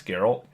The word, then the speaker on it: Geralt: is garol it's pronounced garel like that's how they pronounce it in the games so that's how I'm pronouncing it's Geralt um when they first